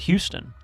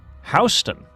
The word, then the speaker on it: Houston: Okay, Adventure Josh, there's also a there's also a a town in Georgia that has the same spelling as Houston, but they don't pronounce it Houston. They pronounce it Hston.